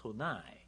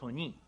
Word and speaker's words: Sony: so nice sony but if we write as eson i american pronounce sonai japanese pronounced sony so they we found